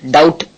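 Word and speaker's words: doubt: பி சைலெண்ட் கோம்னு உச்சரிக்கணும் டி ஓ யூ பிடி டவுட் என்ற வார்த்தையில பி சைலெண்ட் டவுட்ன்னு உச்சரிக்கணும் எல் ஏச் லாக் என்ற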